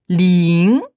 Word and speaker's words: 零: Donc, 0, c'est ling. ling. Ling, c'est quel ton pour toi? Deuxième ton. Ouais, ling. Honte. Alors, L-I-N-G.